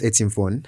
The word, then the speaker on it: Etimfon: Etimfon, would you love to introduce yourself today? Okay, my name is Etimfon, and I'm into Web3.